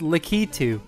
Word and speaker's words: Lakitu: at you see because I pronounce it how it looks like it's spelled its lakitu now like that though